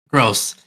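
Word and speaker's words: Grosse: engineer uh consultant Maurice Gru uh gross is it Gru or gross gross gross and that's not me insulting the man that's how you say his name gotcha well he looks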